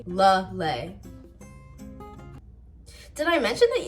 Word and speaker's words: Lele: Lele. Think of a lei, like the ones in like Hawaii. Lele.